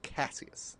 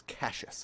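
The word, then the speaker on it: Cassius: And in the first three books it's all pronounced Casius. Okay. And then they get to the fourth book and suddenly the voice actor, whoever that person is, is Cases.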